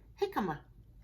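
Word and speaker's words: jícama: make ja good but in these two it's not pronounced with the jet sound it's jalapeno and jicama J is silent can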